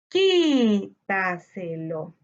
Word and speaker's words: Quítaselo: Quítaselo. Al igual que los dos ejemplos anteriores, la sílaba tónica la encontramos en la anterior a la antepenúltima sílaba.